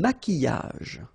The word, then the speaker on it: maquillage: Un maquillage. Okay, so here, same rule, QU, but then U is not pronounced, so qui, and then y.